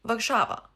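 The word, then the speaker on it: Warszawa: Vakshava.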